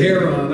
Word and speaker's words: heroin: How do you say heroin? You say it? We say hair on.